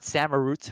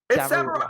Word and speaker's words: Samurott: I think it's but Samurott, but close enough. I don't know. It's Samurott because he's an otter, Michael.